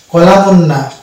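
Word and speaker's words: column: হ্যাঁ ঠিক ধরেছেন এন এই যে এন আমরা উচ্চারণ করছি না কলামুন্না এটা হবে কলাম তাহলে এন হচ্ছে সলিড লেটার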